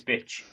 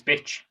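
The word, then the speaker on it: Bitche: We're off to Biche. Is that what how we're pronouncing it, Christian? You're the media guy. No, it's Bitch. Beach. It's Bitch. That's what we're saying. That's our position on it.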